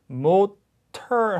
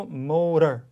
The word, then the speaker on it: motor: 그래서 motor 하지 않고 motor, data 하지 않고 data 이렇게 발음되는 거죠.